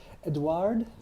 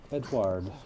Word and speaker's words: Edouard: My name is Edouard. Edward? Pronounced that way. Edouard.